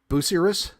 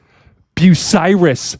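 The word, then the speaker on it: Bucyrus: Maz, do you know how to pronounce this town? Uh is it Busouser? By busy. Busy. I'm not Am I? Is it Biryus? No, it's Bucyiris.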